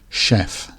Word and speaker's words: chef: because it comes from French the CH is pronounced like a shirt instead of a Chur chef in the top right we have a picnic